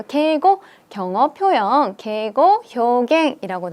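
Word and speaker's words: 敬語: 표현 이라고 적혀 있어요 저희 처음에 경험 뭐라고 읽었죠 게고 라고 읽었습니다 그래서 게이고 경어 표현 계곡 형의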